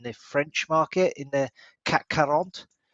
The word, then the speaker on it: CAC 40: French market, in the CAC 40. Nice, nicely pronounced as well. Yeah, so, or just if you're from Essex, it's CAC 40, mate.